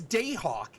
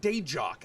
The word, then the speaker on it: Dayhawk: This is the first time on a stream that since I found out it's Dayhawk and not Dejock. I've been pronouncing the J this entire time and you never corrected me.